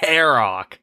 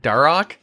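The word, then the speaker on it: Dharok: Oh, on a side note, could you guys please stop pronouncing the H in Deagin? A piece of me dies every time. Darok. Like that? Darok?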